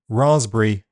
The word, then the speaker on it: raspberry: The letter P is silent in several common words. Cupboard, receipt, raspberry, psychiatric, psychology, coup, pneumonia to name a few.